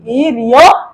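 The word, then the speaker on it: 일요일: ইল ইয়ো ইল রবিবার তো আমরা এটা বাচ্চিম উচ্চারণ সহকারে বলবো বাচ্চি বা স্বরবর্ণ থাকলে উচ্চারণের সময় বাচ্চিম উপরে উঠে যাবে তাইলে ইল ইয়ো ইলটা হবে ই রিয় ইল ই রিয় ইল ই রিওয় ইল তাইলে ইল মানে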